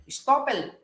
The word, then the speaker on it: estoppel: Estoppel, the right pronunciation is estoppel.